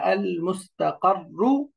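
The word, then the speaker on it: المستقر: যেমন শব্দটা হলো আল মুস্তাকাররু। আল মুস্তাকাররু ওয়াকফ করলে আল মুস্তাকার, এই যে কর, দুইটা রা যেহেতু সুকুনটা একটু ধরে রাখতে হবে।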